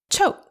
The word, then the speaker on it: ချုပ်: Choke sounds a bit like the English word choke, doesn't it? Like our stomachs all choked up.